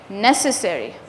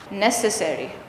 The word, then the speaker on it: necessary: Necessary. necessary. This one definitely the s necessary. It's very short also depending on how you say it. The second syllable necessary. It's not that pronounced. It's very very tiny.